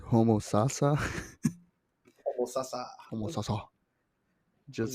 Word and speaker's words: Homosassa: Homosassa.